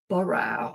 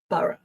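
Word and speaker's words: Borough: And uh yeah, people always want to say like Bow or something, which is no. Although I think in in North American English, they'd pronounce it O. they'd say borrow, but yeah, in London it's bur b and bur.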